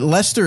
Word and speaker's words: Leicester: Leicester. Leicester. Spelled similar to each other. Oh, I see. Like close to each other. Oh, yes. I didn't know that. Yeah. But Leicester is spelled like Leicester.